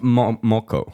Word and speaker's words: moko: So, how do you pronounce it? So, Moko? Moko.